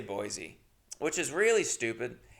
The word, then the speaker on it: Boise: at uh a place in Boise Ido which is how they say it by the way they don't say Boise which is really stupid